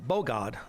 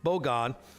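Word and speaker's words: בגד: uh Hebrew it's uh B God no bog God emphasis accd on the first syllable bog God okay and then uh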